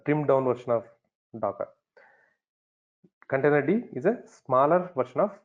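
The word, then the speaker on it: containerd: container D container D that's how we know pronounce it container D container D or it can be Docker right Docker container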